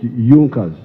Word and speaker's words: Junkers: It is written Junkers, but they pronounced pronounce it Junas.